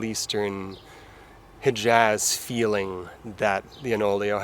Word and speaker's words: Onoleo: hijaz feeling that the enolio has or own Leo depending on how you say it this is the